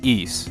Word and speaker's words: Ys: to clear something up, yes, that is the proper way you pronounce Ys. You know how I know that? Because the voiceover from the TurboGrafx-16 CD version of Ys Book 1 and 2 says so. Ys, the ideal utopia.